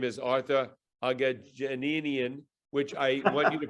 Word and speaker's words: Aghajanian: His name is Arthur Aghajanian, which I want you to pronounce, Arthur, because I am confident I mispronounced that. Aghajanian. Aghajanian, so it's actually very simple.